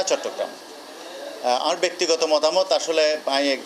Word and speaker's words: চট্টগ্রাম: উচ্চারণ করি না হইতে তাহলে তারা চট্টগ্রাম কঠিন শব্দ ওরে সহজ করে দিয়ে চিটাগং উচ্চারণ করে খুব সহজে বেগুন উচ্চারণ করি ফেলাইতে কিন্তু আর আসল শব্দ